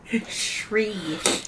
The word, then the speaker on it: Sri: Oh, Sri. I can't even say it. Sri Lanka. Shri. So it's like a SH sound, Shri. Shri. But there's no H. What? I know, but that's how it's pronounced.